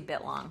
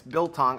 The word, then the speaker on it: biltong: I always say it wrong. Bitlong, you say, right? I say Bitlong. Yeah, it's Biltong. I forget. I miss the L sometimes, Sorry.